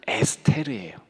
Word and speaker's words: 에스테르: 정확하게 발음하면 에스테르예요.